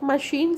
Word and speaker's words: machine: So in case of machine, ch is pronounced as sh.